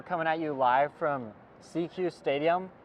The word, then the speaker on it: SECU Stadium: We're coming at you live from CQ Stadium, which I thought was SECU Stadium until we read the pronunciation guide.